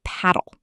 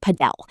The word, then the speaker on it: padel: It's called paddle. You may have heard it pronounced Padel. No matter how you pronounce it, by the end of